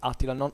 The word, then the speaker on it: Attila: Attila is pronounced Attila, not Attila, not I think it's Attila, and this was